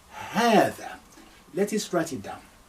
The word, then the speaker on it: هذا: هذا. Now, this is what you pronounce. This is what this sounds like. That's why in the transliteration, I will double A to say ha, هذا. That is the sound, and that's for masculine singular.